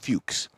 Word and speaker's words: Fuchs: one check this out these are the Porsche Fuchs Wheels it's spelled different but it's pronounced Fuchs when poor how do you spell it f-u-c-h-s